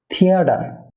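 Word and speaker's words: theatre: Dear viewer, থিতে stress হবে থিয়েটার।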